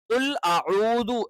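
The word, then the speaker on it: قُلْ أَعُوذُ: പക്ഷേ നമ്മൾ എന്ത് ചെയ്യണം കുൽ അഊദു എന്ന് തന്നെ കറക്റ്റ് പറയണം കുൽദു തെറ്റാണ് കുൽ ഔദു തെറ്റാണ് കുൽ അഊദു തെറ്റാണ് കുൽ അഊദു എന്ന് തന്നെ പറയണം പിന്നെ ഇവിടെ ബി റബ്ബി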